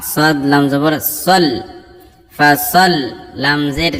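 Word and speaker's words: فَصَلِّ: ফাসাল্লি লিরাব্বিকা ওয়ানহার। ফা জবর ফা, সাদ লাম জবর সল। ফাসাল লাম জের লি। তাসদীদ থাকলে কিন্তু দুইবার উচ্চারণ করতে হবে অক্ষরটাকে।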